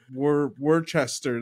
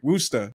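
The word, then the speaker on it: Worcester: remember the first time I was just like Worchester they're like woa and I was like what oh that's I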